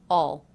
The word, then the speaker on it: I'll: Again pronounced with the aw as in law vowel, reduced to all, all, all, all.